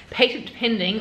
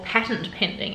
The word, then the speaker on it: patent-pending: this group activity called patent-pending or patent-pending as i've learned americans pronounce it we're all on a